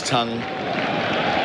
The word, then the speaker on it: Tongue: SCNs cricket super 78 the score Josh tongue we all pronounce tongue like that right tongue tongue tongue